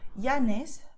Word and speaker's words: Llanes: The first one will be quite simple, just like the vowel E, okay? So you can say Llanes, Villa, Yucatan, Cayo.